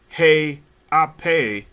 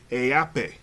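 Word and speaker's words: Haʻapai: Hunga, and then Hunga, again, Hunga, and then the final name, I pronounce it Heape. It is spelled HA dash apostrophe APAI.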